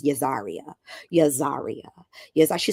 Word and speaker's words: Yahzarah: your name to Pieces we kept telling her it was yazer but she was insistent that it was yazar yazar yazar she says